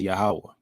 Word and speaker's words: Yahweh: as well so the the name of the most high God um is Yahweh you know that's how you pronounce his proper name and it concretely means